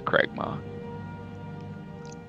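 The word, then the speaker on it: Cragmaw: you pronounce it again is it craiga c r a g m a w yeah it's Craig ma but you guys uh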